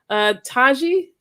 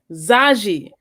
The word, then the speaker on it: Zaji: Zaji. Yes. I looked at that shit and I heard you say it like 3 times, and my brain was like, Taji, right? No. Zaji.